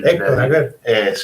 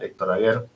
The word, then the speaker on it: Aguer: Y Héctor Aguer. Aguer, perdón, lo pronuncié mal, Héctor Aguer, y le dio una